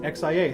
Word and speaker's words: Xia: just tell you yeah it's pronounced yes it's pronounced xiah okay uh you should actually play the game